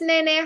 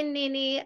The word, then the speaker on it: NeNe: yeah hi gorgeous Nene how are you it's good and it's NeNe I know people people pronounce it NeNe because of the E yeah but it's me hi ninny I go through the